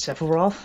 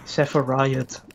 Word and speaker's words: Sephiroth: Kijk, hoe spreek je dit uit? Sephiroth. Dat klinkt logisch. Sephiroth. Heb ik het goed? Nee. Oké. Okay. Van Tree, daar bedenk ik dit. Ken je van die gast van Burger King? Footladders, ik bedoel die guy. Ja. Dit is een character in Final Fantasy. Die heet Sephiroth. En zo spreek je dat uit.